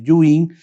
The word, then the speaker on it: Ewing: osteosarcoma, el sarcoma deing que se escribe ewing, pero por pronunciación un poquito los oncólogos lo pronunciamos como en el el original, ¿no? El sarcoma de Yuin, el condarcoma son los